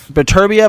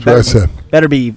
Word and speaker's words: Beterbiev: How do you pronounce it? Beterbiev. I thought it was Beterbiev.